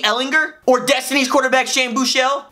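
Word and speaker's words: Ehlinger: starter could it be Sam hard G Ellinger or destiny quarterback Shane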